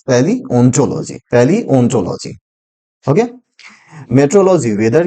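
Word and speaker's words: paleontology: The right pronunciation is पैलियोंटोलॉजी।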